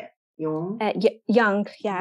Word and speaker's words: Jung: Jung, yeah. Jung.